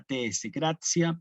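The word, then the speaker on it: gratia: de Gracia Sí pero para ser más fieles a la pronunciación latina tenemos que destacar esta tscracia plena Ave María gracia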